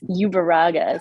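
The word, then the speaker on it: Ueruaga: there Hi I apologize in advance if I mispronounce your last name it's great no worries it's ubera so thank you so much for the time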